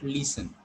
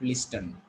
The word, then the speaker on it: listen: We call it listen, not listen.